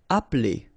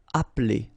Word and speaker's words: appeler: Appeler, all right, so the funny thing here is that you don't really insist on this okay, so if you listen carefully, it's just like if it wouldn't be here. Appeler, appeler.